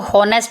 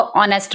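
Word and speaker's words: honest: नेक्स्ट है ऑनेस्ट, इसको हॉनेस्ट नहीं पढ़ना है, इसको ऑनेस्ट पढ़ना है। नेक्स्ट है ऑनर, इसको ऑनर पढ़ना है, हॉनर नहीं पढ़ना। जब भी एच के बाद ओ आ जाता है तो एच को साइलेंट कर देते हैं या आ करके आवाज़ निकालते हैं, ठीक है। इसको आ करके आपने याद करना है कि इसमें आप ओ की आवाज़ निकालेंगे, एच की आवाज़ नहीं निकाल।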